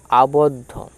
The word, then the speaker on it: আবদ্ধ: ধার তারপরে কি আছে আবদ্ধ আব আবদ দয়ে ধ এর উচ্চারণটা কিরকম ভাবে করেছিলাম তিনটে টার্মে করেছিলাম কি বলেছিলাম না আ তবে ব এর সাথে দ বদ আবদধ আবদ্ধ এই হল দ এ